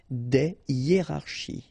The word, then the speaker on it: des hiérarchies: Des hiérarchies. Okay, so just to show you that it's not only with A, because I've got three examples with A, but then in that case it's I, okay, des hiérarchies. All right, so no liaison here, here, here, and here.